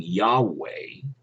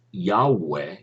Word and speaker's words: Yahweh: adonai my lord and they don't pronounce yahweh which the jewish study bible says that's probably how it was pronounced um except you know